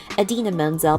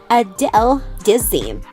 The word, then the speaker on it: Idina Menzel: Unfortunately, however, he pronounced her name incorrectly the entire time. It sounded like Adele Dazeem, or something similar.